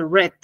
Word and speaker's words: read: la pronunciación mientras que en presente se dice read en pasado se dice red Sí con una sola e red Esa es la